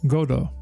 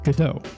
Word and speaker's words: Godot: in the French version the name is pronounced godo with equal emphasis and no pronounced T in the English version the name is pronounced as much as some of you would not like gato however American audiences may be more familiar with Godot again cultural and language